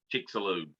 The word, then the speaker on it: Chicxulub: In fact, the comet is moving 4 times faster than the Chicxulub. That's the one I couldn't pronounce. Huh? Chicxulub.